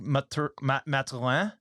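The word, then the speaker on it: Mathurin: mean Tyrese Halliburton uh Benedict Matalan if you pronounce it the French Canadian way Benedict I prefer that so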